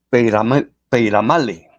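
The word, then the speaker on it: Peyramale: le pide una señal el obispo se llama peale así se pronuncia ya y el idioma que estamos hablando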